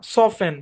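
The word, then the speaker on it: soften: আচ্ছা, আরো যেসব শব্দে টি সাইলেন্ট থাকে, যেমন ক্রিসমাস, মর্গেজ, অ্যাজমা, সফেন, বুফে।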